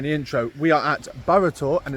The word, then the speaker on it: Burrator: Okay guys, so as you would have seen in the intro, we are at Burtor and it's pronounced that, not Burator as I thought.